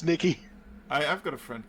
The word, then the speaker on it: Nike: call it Nike most countries they call it Nike which is not how they got us a victory's name is pronounced no Nick Nikki Nikki oh God it's Nikki I I've got a friend called Nikki they're